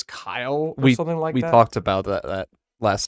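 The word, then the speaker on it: X Æ A-Xii: um correct this is i think you pronounce it technically as kyle we talked about that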